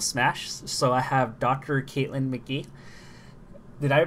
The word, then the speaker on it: Caitlin McGee: the realm of Smash so I have Dr Caitlyn McGee did I mispronounce that name NOP you got it right